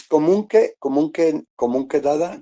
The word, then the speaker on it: Comunque Dada: Dada, I wanted to know what is Comunque Dada, your name? That's the right pronunciation? Yes, it's comunque dada.